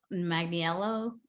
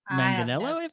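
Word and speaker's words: Manganiello: as a high school student yeah joe magnio magniello did i say it right manganello yeah i wouldn't want to fight him that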